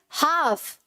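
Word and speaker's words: half: फिर क्या है, हाफ, ठीक है, तो यहाँ का एल जो है वो भी साइलेंट है, राइट, हाफ, पाम, ठीक है।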